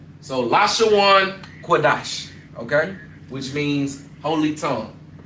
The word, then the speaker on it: Qadash: So being that they are conjoined, you would drop that a for sha and you would pronounce it dash. So lashan cuadash.